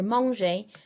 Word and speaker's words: mange: If you were guilty of saying je mange, please be careful and remember that the E at the end of that present tense verb is silent.